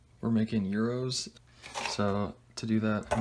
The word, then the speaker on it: gyro: margussia and chef john call these gyros in it's not the right way to pronounce it but that's okay it's euros or euros i don't actually care